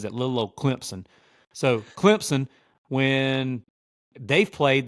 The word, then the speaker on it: Clemson: got drilled by Clemson fans on social media for saying Clemson they're like there's no Z in Clemson I'm sorry I'm from the Deep South my accent's thick like I don't know maybe I'm saying it wrong but I'm just gonna